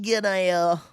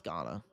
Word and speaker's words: Ghana: We've got Gana. Gana. It's Ghana. Obviously, I know how to pronounce Ghana since they knocked us out of the two World Cups 06 and 2010.